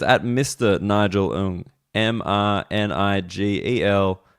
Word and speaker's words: Ng: Nigel owned em and I GTL NJ Ong pronounced own locked that in have that as your stock pronunciation and if someone corrects